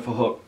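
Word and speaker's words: Phuc: His name is Fahook. It's spelled with a PH, so it sounds like Fahook.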